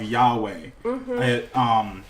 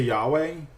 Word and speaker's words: Yahweh: their name is incorrect jehovah is a mistranslation or a mispronunciation of Yahweh the Jews did not write the was it called the vowels to Yahweh in the Torah so